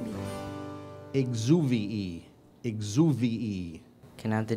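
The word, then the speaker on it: exuviae: The biologist had a small collection of exuvii, and the most interesting was a very long snake skin remnant. Exuvii. Exuvii. Am I pronouncing that correctly? Perfectly. Exuvii.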